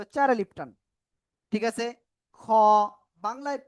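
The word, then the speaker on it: خ: আইন অক্ষরে ছিল চার আলিফ টান ঠিক আছে খ বাংলায় খ এর মত উচ্চারণ কিন্তু একটু মোটা আওয়াজে হবে শব্দের শুরুতে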